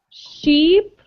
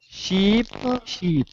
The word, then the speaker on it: sheep: really problematic sound is the sh right the ch is okay the sh can be more difficult so listen sheep sheep sheep keep sheep okay matt say it